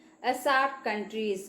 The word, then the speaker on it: SAARC: A SAARC country is correct because it's not an abbreviation, it is an acronym. Okay, so we are not pronouncing the words individually, but like a whole word we are pronouncing.